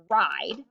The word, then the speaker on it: ride: consonant and a vowel our e is silent because our eye is between the it's a one syllable word ride one syllable and we have a vowel before our consonant it makes our e silent so i'm going to go